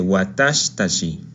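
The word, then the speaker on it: 私たち: La letra shi de watashi omite su i por cuestiones fonéticas y se dice watashitachi.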